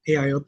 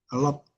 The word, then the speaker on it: AIoT: Hardware AIoT, ini bacanya AIoT ya, bukan a lot.